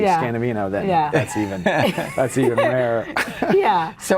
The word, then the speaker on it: Scanavino: Rarely somebody will actually know my name, and then I know they're a true super fan, and if they pronounce it correctly, Scanavino, then that's even rarer.